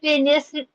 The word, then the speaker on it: finished: She has finished. Ini bacanya finished atau finish nih? Finished. Ada bunyi D-nya.